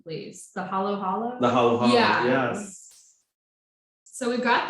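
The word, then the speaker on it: halo-halo: It kind of reminds me a little bit of that, and correct me if I'm wrong in the pronunciation, please. The halo halo? The halo halo.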